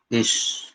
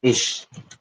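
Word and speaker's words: ich: तो आई को हम बोलते हैं इश। इसकी प्रोनाउंसिएशन होती है इश।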